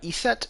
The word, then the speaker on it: Eset: like modern egyptological pronunciation you put an e between the s and the t uh just to make it pronounceable because ist uh we